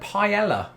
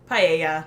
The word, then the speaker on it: paella: put it in is the word paella pee yeah again Spanish let us know in